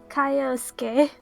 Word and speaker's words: Kaiosuke: So it's Kaiosuke. We said it right once, finally.